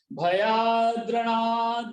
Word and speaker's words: भयाद्रणाद: भयाद, यहाँ भयाद और रणाद ऐसा दो शब्द है। भयाद्र रणाद उपरतम, तो इस तरह से उच्चारण क्या हुआ? भयाद्रणाद उपरतम मंस्यन्ते त्वाम महारथा।